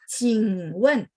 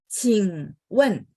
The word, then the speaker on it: 请问: 请问, 请问. Q bacanya adalah angin ya. CH ada angin. Masih ingat ya teman-teman kolom itu. Jadi 请问 ya. Q bacanya ada angin. 请问, 请nya 3, lanjut nyambungnya ke sampingnya 问.